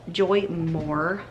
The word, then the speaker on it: Joymor: it's for adults too but a company called joy moore that's how you say it reached out to